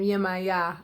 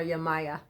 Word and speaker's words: Yemaya: Maya this is Yemaya a lot of people and now pronounce her name yeah my yah I call her yeah Maya and as you can